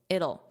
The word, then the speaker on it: it'll: It'll So, what does this represent? It will. And then as a contraction, it'll it'll be. It'll be. So very unstressed, just that dark L sound.